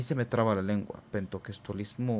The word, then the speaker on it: pentecostalismo: sí, es de Pentecostés, pero es pentecostalismo.